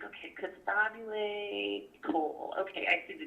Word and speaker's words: Costabile: I always want to say it right, Costabile. Costabile.